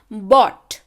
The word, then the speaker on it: bought: बॉट है ना, यहाँ पे आर का उच्चारण नहीं है.